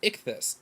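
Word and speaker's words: ΙΧΘΥΣ: Y Sigma thing but when you sound it out it's ichus so the first letters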